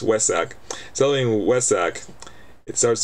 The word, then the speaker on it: Vesak: headquarters has been celebrating Vesak sorry it's West Sac selling West Sac it starts to be it's a spelled with a V but it's actually pronounced with a W with West Sac since